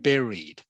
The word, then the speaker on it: buried: um buried this word here okay Berry it's pronounced buried Berry okay buried correct okay he was buried